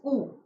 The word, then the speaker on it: coup: And when the military supplants the existing ruler, the word for that is coup, staging a coup. P is silent here, okay?